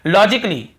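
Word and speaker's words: logically: नहीं हो रहा है और देखिए लॉजिकली लॉजिकली यहां पर भी ए को हम नहीं पढ़ रहे हैं फिर देखिए रोमांटिक ली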